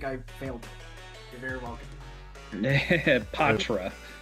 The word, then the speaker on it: Poitras: Patra. Just for son, so he doesn't lose his mind hearing people mispronounce it. I've always said Poitras, and I'm gonna stick by it because it's fun to mispronounce things.